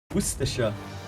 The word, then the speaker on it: Worcester: Worster according to Wikipedia, huh?